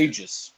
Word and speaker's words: Aegis: Aegis.